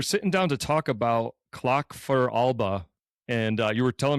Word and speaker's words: Clach Fear Alba: Well, we're we're sitting down to talk about clock for Alba. And uh you were telling me the the proper pronunciation is clock for Alaba.